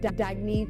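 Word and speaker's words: Dagne: good you can live life intentionally oh it's pronounced dagy do dagy means new dawn it's a new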